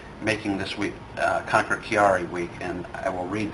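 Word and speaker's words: Chiari: And it's uh to to uh recognize a disease called I believe it's called kiari, but it's spelled c h i a r i.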